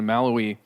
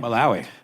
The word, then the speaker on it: Malawi: places like Tanzania and maloi or sorry how do you say it malao Malawi uh they are they're